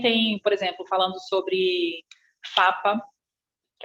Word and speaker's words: PFAPA: E depois, ele é PFAPA, mas não se pronuncia o primeiro P.